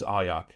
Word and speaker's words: Arjac: I would say the pronunciation is Ayak.